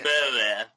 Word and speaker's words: Boer: I say Boer. Did you hear that? Do it again. Hang on. Boer. Did you hear that? No. Okay, it goes Boer. So B. Boer.